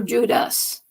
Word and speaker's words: Judas: it doesn't matter but which sounds more like jew jude or judas jude or judas the emphasis of the syllable is act is emphasized the second symbol of das a-s not jew but judas this is saint jude